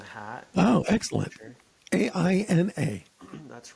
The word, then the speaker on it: Aina: Yeah, so the name of our business is Aina Culture. Have it right here on the hat. Oh, Aina excellent. Culture. Aina.